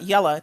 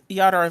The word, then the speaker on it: Yadar: That's not Yella. That's Yadar Valley.